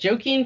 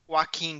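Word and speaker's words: Joaquin: We have Antonio Banderas, Leonardo DiCaprio, Adam Driver, uh, Joken, how do you say it? Joken Phoenix. Waqen Phoenix. Waen Phoenix.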